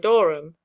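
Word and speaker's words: dŵr: If, then, they be read Dor Dorum and Algain Dorum, Dor and Algain are nearly Dur, or, as is pronounced, Dor, and Halen, the Welsh words for water and salt respectively.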